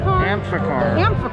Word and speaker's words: Amphicar: Amphicar. Like amphibian car. Like amphibious car.